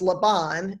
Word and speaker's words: Laban: it's her brother laban whose name would be pronounced laban in hebrew um he's a rich man